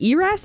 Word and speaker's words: ERAS: log into eras also do you guys pronounce it eras or heiress because i've always pronounced the eras i'm an eras person everybody's an eras person